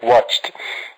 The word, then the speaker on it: watched: you listen to that watched it's like you are not pronouncing the T at the end instead of a D however in the second